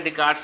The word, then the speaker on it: Descartes: तो हम लोग जैसा देखें कभी तो रेने दकार्ते लिखा हुआ है, रेने दकार्ते, पर अगर प्रोनाउंसिएट करते हैं तो रेने डिकार्ड्स ही पढ़ने में बनता है, जो स्पेलिंग है उसके हिसाब से।